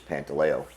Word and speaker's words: Pantaleo: He was the original Pasta in our neighborhood for his heavy accent, and they couldn't pronounce our last name, which is Pantaleo.